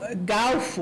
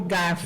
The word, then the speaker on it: garfo: Há pessoas que pronunciam galfo, né, por garfo.